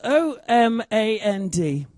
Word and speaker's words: Omand: Well, it's O-M-A-N-D. And I've looked up and I've found all different ways of pronouncing it, and most people go Oman, Omand. Seems appropriate to call him Oman.